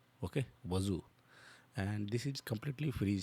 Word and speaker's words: Wazuh: So you can see how they pronunciated. Wazu. Okay. Wazu.